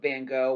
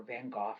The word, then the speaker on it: Van Gogh: picture but actually what is so genius about van gogh or van gogh depending upon how you like to pronounce his name this is actually a work